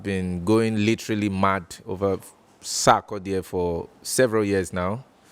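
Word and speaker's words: Sarkodie: For example, Sakoda, Abi Sakodie. Yes, Sakodie. Sakodie. Yeah, Sakodie. I'm trying to pronounce it well because they corrected me. Sakodie. Sakodie. Yeah. Yeah, This is better. Sakodie.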